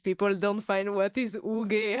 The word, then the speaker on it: UG: Yeah, because we say it the Finnish way. So if people don't find what is Uge, how do I spell this?